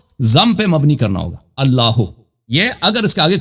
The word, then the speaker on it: اللہ: تو یہ کہنا الف کا یہ الف جو ہے اللہ کا, یہ الف وصل کے لیے. تو یہ جب یا کہیں گے تو اس کے ساتھ یہ الف کے تلفظ نہیں ہوگا.